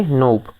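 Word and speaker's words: knob: देखो ये यहाँ पे हमने क्या NOB, नोब के पहले हमने क्या फिलअप करे, के, तो क्या हो गया ये नोब, है ना। के का उच्चारण नहीं करना, नोब का मतलब बटन होता है।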